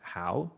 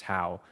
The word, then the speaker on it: Hao: And it actually all started with my name, Hao. So in Vietnamese, it's pronounced Hao, but to just anglicize it, it's Hao, which is completely fine with me.